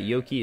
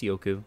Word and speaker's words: Yoku: Also, I've been told that Yoki is not Yoki, it's Yoku, which was help from Twitter.